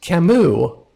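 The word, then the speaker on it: Camus: Uh, and the Sable Knight Kamu, and that is how some people in official media have pronounced his name, but really it's Cam cuz I mean, come on now.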